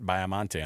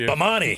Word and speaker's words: Baiamonte: first of all, I thought it was pronounced Bamani.